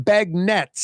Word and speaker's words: beignets: things tomorrow maybe some Bag Nets I think it's pronounced bag Nets get some Bag Nets